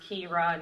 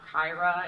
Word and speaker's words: Kira: Pronounced Kira, not Kyra, and like with the phonetics and everything, which is super fun.